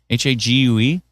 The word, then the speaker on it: Hague: How you pronounce it? Hague or Hague? Hague.